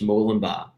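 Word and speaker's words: Murwillumbah: that inner australia yeah yeah so so m-u-r-w-i-l-u-m-b-a-h mullenbach yeah wow i'm glad i didn't have to pronounce that american accent you guys would say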